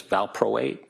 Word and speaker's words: valproate: Valproic acid, VALPROIC acid, also known as valproate, VALPROATE.